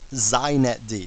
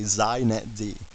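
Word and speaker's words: xinetd: me just say a couple things first it's pronounced zinet d so if you want to be hip you say zeinet d okay and secondly it's the epitome of why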